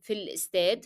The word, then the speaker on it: في الاستاد: في الاستاد, you will be dropping the sound of ألف in L because Fi is carrying or is ending in a long vowel E, so alif cannot be pronounced in al instead.